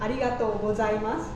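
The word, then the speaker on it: ありがとうございます: Arigato gozaimasu. Yeah, I heard people saying arigato gozaimasu? Go. Go. Like with a G. G. Ah, arigato gozaimasu.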